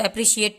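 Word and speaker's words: appreciate: तो एप्रिशिएट, यहाँ पे आर के बाद ई है तो री पढ़ा जा रहा है, तो टी क्यों नहीं पढ़ा गया है? क्योंकि लास्ट में ई का कोई साउंड नहीं होता है।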